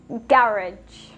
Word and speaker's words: garage: In British English, you will hear schedule. And in Canadian English?